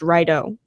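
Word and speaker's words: Rideau: Girls in 10th oh apparently it's pronounced rydo okay there we go rydo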